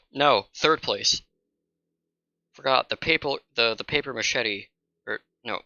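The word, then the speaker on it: papier-mâché: Forgot the paper machete, or no, the paper machete. Paper mache. That's how it's pronounced.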